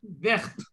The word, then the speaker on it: verte: So la robe est verte. Now it is, the T is pronounced completely.